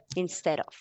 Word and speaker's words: instead of: So this D is transformed into an R. So transformity. Okay. Okay. Instead of instead of instead of That's correct, Angela.